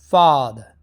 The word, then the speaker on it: father: So we have last but not least 12th, ah, father, father. R is very silent.